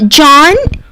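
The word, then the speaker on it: jawn: flexible than joint so uh John it's spelled j-a-w-n and it comes from joint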